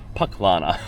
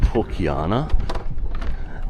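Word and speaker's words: Pucllana: So I've already found out some interesting facts that I pronounce it wrong, of course. That's called Pukiana.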